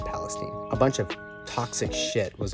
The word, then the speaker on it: Palestine: in East Palestine Ohio that's how they say it I would say Palestine but they say Palestine a bunch of toxic